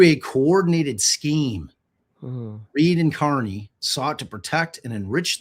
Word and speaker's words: Kearney: going to read it Carney cuz for whatever reason, the Carney family decided not to pronounce their name the way it's spelled.